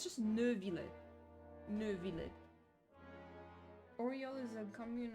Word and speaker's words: Neuvillette: I need her to stop pronouncing it Neuvillette. Quit following. There's no R. It's just Neuvillette.